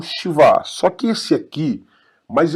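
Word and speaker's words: שווא: Shivá, shivá. Eu não falo sheva, falo shivá, shivá. Perceba que eu pronuncio praticamente o som do SH.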